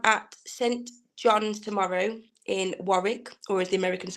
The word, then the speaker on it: Warwick: I am at St John's tomorrow in Warwick, or as the Americans say, Warwick.